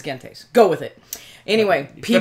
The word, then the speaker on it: Gentes: Number 83 is Gentes, or Gentes, Gentes, whatever. In Latin, it's Gentes.